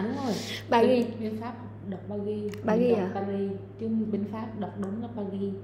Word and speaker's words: Paris: Chứ bên Pháp đọc đúng là ba ghi. Ba ghi hả? Ôi chị giờ chị mới biết rồi, chị tưởng không đọc sai không á. Không, đọc đúng là Paris.